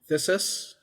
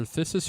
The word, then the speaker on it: phthisis: It's either phthisis or phthisis, but yeah, like, let's go with consumption. I feel like the P would be silent. I feel like the P would be silent, like pterodactyl.